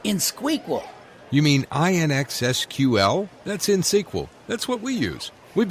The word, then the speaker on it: InXSQL: Harry, it's InSQL, INXSQL. You don't pronounce the X.